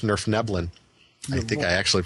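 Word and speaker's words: Svirfneblin: And I believe that their actual name is pronounced Nerfneblin.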